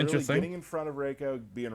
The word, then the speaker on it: Reiko: yeah we're gonna show you some characters today reiko's coming Raco race did I say it right now I